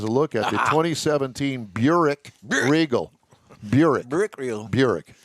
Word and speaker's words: Buick: Zekin has a look at the 2017 Buick Regal. Buick Regal. Actually, that's not very far off on the original pronunciation. It's actually Buik.